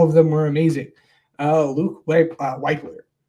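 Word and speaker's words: Wypler: Luke Weipler. Is it Weipler or Whippler? I think it's Weipler.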